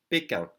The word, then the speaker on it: Pékin: H is silent. Hong Kong. Ensuite, then we have Beijing is Pékin in French. Pékin.